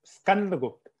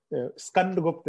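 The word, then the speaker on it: Skandagupta: I will just add that it's Skand Gupta. Skand Gupta. Because, you know, I used to pronounce this name, and, you know, my father used to scold me. So I think Skand Gupta is the exact name.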